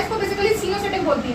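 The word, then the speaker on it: coenocytic: सीनो की एस से नहीं है स्पेलिंग, सी से। इसको कोई कोइनोसिटिक बोलता है, कोई सिनोसिटिक बोलता है, तो जो तुम्हारा प्रोनाउंसिएशन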